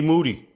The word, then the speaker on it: Moody: the black Ed McMahon G Moody rhymes with Duty yeah I was just